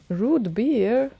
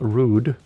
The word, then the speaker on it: root beer: Just a lazy Hungarian thing sometimes to pronounce the T as D, and then all of a sudden it gets root beer.